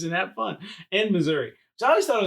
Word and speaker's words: Missouri: Then I moved to Missouri, and everybody here pronounces it Missouri. No. Yes. Not everybody. Well, not me. I don't. Not you. But there's so many people that are like, it's Missouri. And I'm like... There's no A.